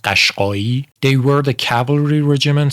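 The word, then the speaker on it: Qashqai: that sure, but the first one which is pronounced Kashki, they were the cavalry regimen.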